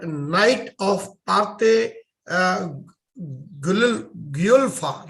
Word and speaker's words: Guelfa: And if I'm correctly pronouncing it, it is called Knight of Parte Guelfa, right? Is that Guelfa, correct, Chris? Yep. Guelfa, yeah.